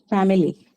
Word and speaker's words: family: It's a noun, obviously on the first syllable.